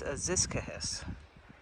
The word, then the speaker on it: Aziscohos: It's Aziscohos.